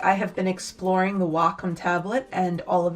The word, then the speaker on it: Wacom: Wacom tablet, I was actually informed I did pronounce it incorrectly. It is not Wacom, it is Wacom.